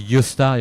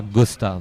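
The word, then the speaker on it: Gösta: La légende de Yosta Berling. Yta s'appelait Gosta ça s'écrit. Je prononce à la Suédoise parce que j'avais un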